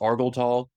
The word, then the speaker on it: Argel Tal: to Argel Tall or apparently it's pronounced Argal Tall that she like